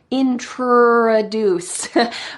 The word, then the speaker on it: introduce: So in American English, the R is very hard. Honor, introduce.